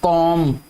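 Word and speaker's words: comb: ठीक है जी, इसके बाद एक और आपने वर्ड पढ़ा होगा कॉम, COM, ये जो B है इसमें ये भी साइलेंट है।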